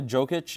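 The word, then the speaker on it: Jokić: Yeah, Jokic.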